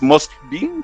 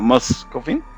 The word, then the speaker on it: Moskvin: Ahí me enseñaron para poder pronunciar, me dijeron, no es Moskvin, sino Moskvin. ¿Alemán?